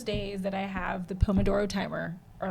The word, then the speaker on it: Pomodoro: Is if there were no Pomodoro Timer, I don't know if I would make it. Pomodoro. That's how you pronounce it? Pomodoro, like the Pomodoro. sauce. Oh, Like yeah. Italian tomato sauce.